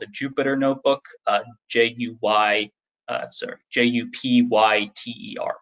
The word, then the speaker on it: Jupyter: called a Jupyter notebook, J-U-P-Y-T-E-R is how it's spelled, but Jupyter notebook.